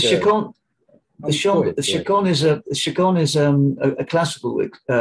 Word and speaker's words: Chacon: The next song is called Chacon. Is that how you say it? Chacon, yeah.